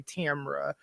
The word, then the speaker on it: Tamra: my name right so i will always say tamra so that you know that it's tamara not tamara not tamara tam era you feel me but